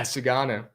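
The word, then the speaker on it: Sugano: Yeah, Sagano.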